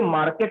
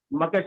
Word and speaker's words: market: Vowel के बाद में अगर कोई आर आता है तो उसको साउंड नहीं किया जाता है, लिखा तो जाता है लेकिन साउंड नहीं किया जाएगा। जैसे मार्केट नहीं होता है, मकेट होता है।